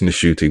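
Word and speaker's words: Ncuti: yes his name is NTI we've been saying his name wrong all this time the N is actually pronounced so it's not shuy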